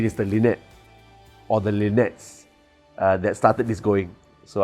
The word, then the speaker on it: LINetS: then I realized that's exactly the way it's pronounced when God said there are many more Lynette's so it's not just lean it that one